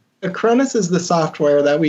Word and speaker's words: Acronis: You said it was a Cronus? Acronis is the software that we use. Cronus is the software. Kronis? Acronis. Spell it again.